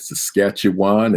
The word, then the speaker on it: Saskatchewan: - tongue twister now now I got it Saskatchewan and susta tune right where you from where